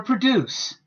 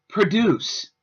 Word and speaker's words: produce: they are pronounced differently the verb form has the stress on the second half of the word leaving the pronunciation of produce the noun has the